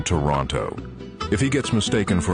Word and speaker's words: Toronto: He winces when people pronounce the second T in Toronto.